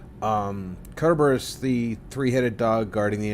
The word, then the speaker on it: Kerberos: It's actually Greek and would normally be Kerberos, because they didn't have a soft C sound. Kerberos, the 3-headed dog guarding the entrance to the underworld, exactly.